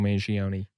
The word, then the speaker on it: Mangione: that I know that I do pronounce the e at the end.